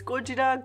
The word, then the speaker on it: Gojira: out godzilla singular point fyi i know it's gojira gorilla and kojira or whale but i've grown up saying godzilla and i'm so self-conscious that i'm just gonna